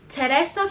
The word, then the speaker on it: Teresa: Teresa flees to the United States after her drug peddling boyfriend is murdered by a cartel boss.